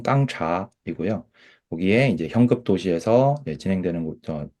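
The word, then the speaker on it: 刚察: 이게 이제 우리 한국 발음 읽으면 강찰인데 중국 발음 읽으면 깡차이고요.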